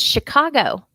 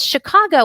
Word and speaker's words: Chicago: chef shoot machine and chicago with these we have the ch that we spell with ch but it makes the sh sound sh these are all a french origination and with chicago well why would a